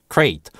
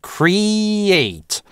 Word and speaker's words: create: На самом деле в быстрой речи может звучать и create с кратким /ɪ/. А еще сильнее оно даже может редуцироваться в crate. Like a crate, like a chest. Но представлять это слово по-английски, или петь его мы должны только как cree-ate.